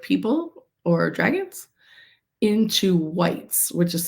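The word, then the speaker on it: wight: things dead creatures like people or dragons into whites which is spelled wi G HT a wh which is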